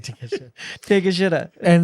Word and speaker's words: Takeshita: Pronounce it again. Takeshita. Takeshita.